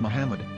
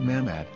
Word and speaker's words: Muhammad: Hebrew English Di iary it is correctly pronounced as Muhammad not mammad so how we're going